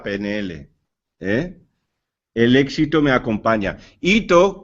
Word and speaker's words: hito: Hito, con H, pero fonéticamente sin H, se pronuncia sin H, yo comento muchas veces lo que es la vinculación fonética.